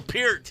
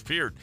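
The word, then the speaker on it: Peart: And hey, that's Neil Pert.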